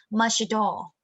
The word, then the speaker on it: much at all: you can see and then the t here the ending sound t here will link to um the following word a tool it's total much tall but numeric for american people it would be mushy doll much at all it's